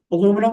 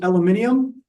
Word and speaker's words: aluminium: know if you guys know about aluminum versus aluminium that's because the Europeans like that ending so they they they change the pronunciation all right so then